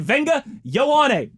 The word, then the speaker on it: Vega Ioane: Brother, what if I were to tell you that the way your name is spelled is not necessarily the way it's pronounced? I think they call him Venga, though. He did at the podium. Okay. At the combine. Somebody asked him how to pronounce his name, and he said Venga Ioane.